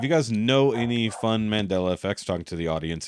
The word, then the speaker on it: Mandela: that doesn't mean yeah it's not mandala it's uh Mandela not mandala not Mandola and just for reference